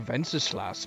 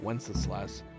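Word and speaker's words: Wenceslas: his name those guys it sounded like they were putting the V on the w venl i like saying ven slash better than Wes slash what are you waiting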